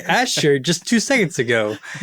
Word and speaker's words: Azure: It's Azure and Americans say it wrong and poison us. Bro, you were the one who was saying Asher just two seconds ago.